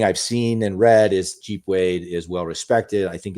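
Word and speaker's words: Geep Wade: Jeep Wade. I'm Can I just say I'm on board with this guy. The the the soft G like J G.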